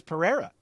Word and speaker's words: Pereira: John Anik be like, hey, guys that keep saying Pereira 100 times, his name is Pereira. Just say Pereira.